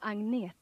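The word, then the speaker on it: Agnetha: here she is hello i'm angnie i know it's very hard for you to pronounce but you can say anita or you can say anna when we came here we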